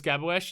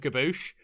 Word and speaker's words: Gaboosh: been roasting people for mispronouncing his name as gabawesh instead of gaboosh and gave away the